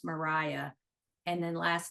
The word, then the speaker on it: Maria: for the listeners um her name is spelled Maria but pronounced Mariah and then last name